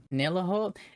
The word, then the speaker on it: Nihiloor: You pronounce it, Han. Nihiloor. Nihiloor? Nihiloor.